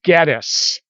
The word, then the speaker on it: Gettys: spoken to them and all of them agree that the name is gettis and so this is probably gettisberg but if you still